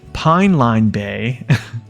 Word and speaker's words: Pine Line Bay: So the first map, how to say this, Pine Line Bay. I was calling it Pipeline.